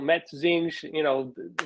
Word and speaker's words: Matosinhos: So Matosinhos, when I was speaking to the guy last night, I'm like, my Portuguese is really rough. He's like, but your pronunciation of where you live is so perfect.